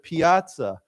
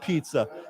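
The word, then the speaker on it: piazza: It it it looks like pizza, but it's not pizza. Yeah. Um but piaza is the same idea. It means plaza. Okay. So, if you ever visit Italy or you go somewhere and you see a word says piaza, it's not pizza. Uh remember there's an a there.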